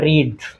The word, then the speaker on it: read: में रखना है, क्योंकि रीड की जो तीनों फॉर्म होती है, रीड, रीड, रेड, अब उच्चारण तो उनका डिफरेंट हो जाएगा, लेकिन तीनों की जो स्पेलिंग होती है वो एक होती है।